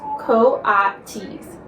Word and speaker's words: coatis: Brisbane said, reading from the letter, pronounced coatis.